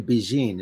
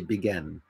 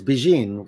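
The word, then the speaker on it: Bigen: black it is a Japanese henna uh it's pronounced actually Beijing it just doesn't look that way it if you look at it you're gonna say begin but it's Beijing which it means pretty young lady in Japanese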